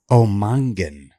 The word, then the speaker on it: O'Mongain: Okay, and then how do you pronounce it? Omangan.